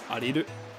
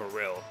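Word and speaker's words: Aryll: It's Ariru. So that, to me, sounds like a Japanese pronunciation of Ariel. Ariru. Ariel, instead of Ariel. So I think Ariel is the correct pronunciation if you go off of that, but at the end of the day, you can call it what you want.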